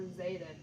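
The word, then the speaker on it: Zaiden: Yes, Buford, or Zayden. A lot of people get my name wrong.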